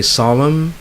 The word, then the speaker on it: solemn: All right, so those are words that have silent letters, or the letters are dropped, and therefore they are not pronounced.